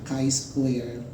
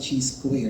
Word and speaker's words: chi-square: the analysis of variance we have that the chi-square very common it is pronounced as Chi square number that's not that g square if you have not taken statistics when you